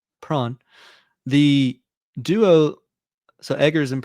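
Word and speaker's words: Sjón: So we're gonna say Prawn.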